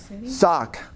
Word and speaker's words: Sauk City: what is now called Sauk City sock I watched a video